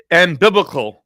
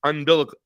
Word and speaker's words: umbilical: I I was I kept saying amil ambiblical and I was saying it wrong. I had to go look it up. It's umbilical. Umbilical.